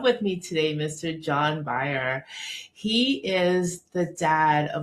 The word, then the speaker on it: Beyer: I go into a doctor's office and and they say my name is John Byer. I'm here to see Dr. So and so and they go okay Mr. Bayer have a seat.